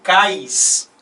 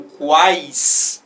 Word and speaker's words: quais: se isso por acaso Se eu falasse cais né e não quais aqui na primeira sílaba